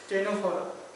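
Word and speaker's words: Ctenophora: सी silent है इसमें, यानी सी साइलेंट है। टेनोफोरा सी से स्टार्ट होती है स्पेलिंग।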